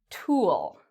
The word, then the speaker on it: tool: Okay, so when you pronounce this word, it's important your lips are like a circle. It's like the word cool.